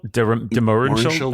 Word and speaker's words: de Mohrenschildt: Mohrenschildt, de Mohrenschildt, I think.